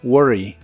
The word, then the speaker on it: worry: y usaremos el verbo worry que significa preocuparse la r de inglés se hace con la boca en la misma posición en la que haces la r fuerte de español solo que